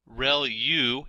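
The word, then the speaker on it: ReLU: there are multiple hidden layers like convolution layer Rel U is how that is pronounced when that's the rectified linear unit that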